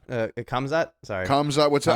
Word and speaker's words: Khamzat: Kamzat. What's that? How do you Khamzat?